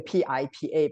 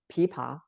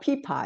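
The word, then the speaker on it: 琵琶: a in Chinese you know spelling is a p i pa but that's just the sound u in Chinese we if we precisely correct pronunciation is pipa uh it's not pipa it's a pipa um you see it's act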